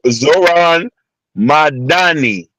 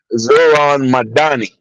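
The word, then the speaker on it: Zohran Mamdani: How to pronounce his name? Go ahead. Zor Zoran Madani. Zoran Madan. Zoran Madani.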